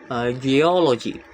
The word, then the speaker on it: geology: The stress is on the second syllable, geology.